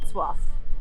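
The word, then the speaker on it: Wrocław: we learned our lesson very quickly if not soif I think which I'm probably still pronouncing it incorrectly respect to everyone that speaks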